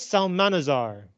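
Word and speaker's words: Psalmanazar: essay mentions the famous salmanazar so uh you do not pronounce the p p is the famous salmanazar a native of the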